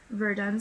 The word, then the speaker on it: Yverdon: A few years there, he was given more and more students, and as after the institute at, I believe it is pronounced Verdun, spelled Yverdon.